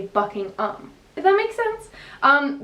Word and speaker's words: Buckingham: as ham h.a.m but in england they pronounced as um so you don't say ham you say bucking um if that makes sense